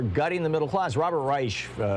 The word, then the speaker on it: Reich: Robert Reich, however he says his name, Reich, yeah, there you go. The English pronunciation.